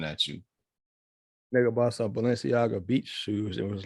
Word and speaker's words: Balenciaga: Nigga bought some Balenciaga beach shoes and was like flexing on it. He couldn't even pronounce it. Couldn't even pronounce it. He was calling them Bensalagas.